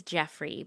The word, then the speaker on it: Geoffrey: His name is Jeffrey, but it's spelled Geoffrey.